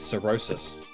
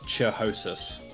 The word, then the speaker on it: cirrhosis: right i was right i looked up cirrhosis pronunciation and what is it jack it's cirrhosis that's comprehensive look at